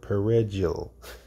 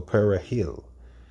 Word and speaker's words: perejil: to say the word perejil or perejil, which is Spanish for parsley. For Creole-speaking Haitians, the R sounded was difficult to pronounce, and a slip of the tongue became a death sentence.